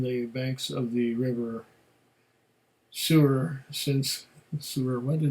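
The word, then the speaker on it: Suir: banks of the river sewer since this summer when the name forever it's spelt s-u-i-r but pronounced sewer i guess since 1792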